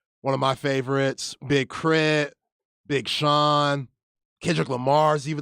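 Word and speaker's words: K.R.I.T.: introduce me who is he this is big crit okay Big crib uh spell it k-r-i-t k-r-i-t big crit okay crit became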